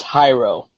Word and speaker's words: Jairo: It's pronounced Hyro. Hyro.